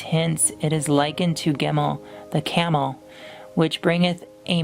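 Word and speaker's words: Gimel: Gimmel pronounced Gmail hard G transcribed as G.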